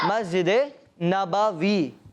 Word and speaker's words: مسجد نبوی: مسجد نبوی یہ ہے درست تلفظ.